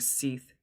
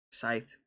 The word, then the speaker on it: scythe: The hawkbashier swung his bladed right arm like a seath. Scythe. Teeth. Why did I pronounce a thie? I know it's scythe.